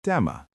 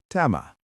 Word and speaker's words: tämä: If something is right here in your hand or very close, the word for this is tama. Say it with me. Tama.